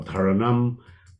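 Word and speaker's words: धारणा: If we or dharana or dharanam, that's how it's spelled. That's where you accent the A's there, and it's a clear N, so it's dharana, right?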